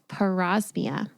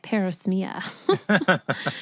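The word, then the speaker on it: parosmia: It's called pausmia. In the beginning, I was calling it parismia cuz I didn't know how to pronounce it. But it's called pausmia. I was like, "Okay, it has a name.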